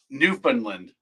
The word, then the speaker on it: Newfoundland: All right, but Newfoundland.